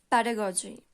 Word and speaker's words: pedagogy: So today's topic is pedagogy. Pedagogy. Pedagogy means शिक्षण शास्त्र. ठीक है? Pedagogy. Pedagogy. You can pronounce it like pada and goji.